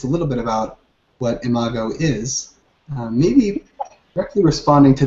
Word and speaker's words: Imago: is something called, I don't know how to pronounce it, Imago? Right, it's Imago. Imago.